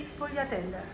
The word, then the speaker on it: sfogliatelle: Sfogliate e sfogliatelle.